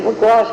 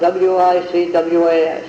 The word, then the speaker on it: Wicwas: He said, we'll name it Wicwas Grange, at Wicwas Lake.